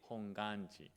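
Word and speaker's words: Hongwanji: share this information oh although there is a w we don't have to pronounce it's like a silent W honganji but the honganji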